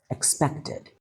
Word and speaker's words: expected: Notice the stress, expected. The emphasis is on the middle syllable.